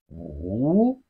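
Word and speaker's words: 五: Si, it has the fourth tone of Chinese language. The fourth tone is the falling tone. Si. Five in Chinese is pronounced as wu.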